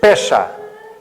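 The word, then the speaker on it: פסח: A palavra hebraica para Páscoa, eu provavelmente poderei não não pronunciá-la da melhor maneira, mas diz-se pesá.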